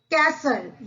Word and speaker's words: castle: The second one is castle, यानी राजा रानी का महल. Castle, CASTLE. हम यहाँ पे T को क्या पढ़ेंगे? साइलेंट.